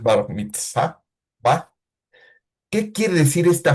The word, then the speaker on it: bar mitzvah: A los 13 años, los varones celebraban una fiesta que se llama el Bas Mitzvah. Perdón por mi pronunciación hebrea, hermanos, pero es bar mitzvah.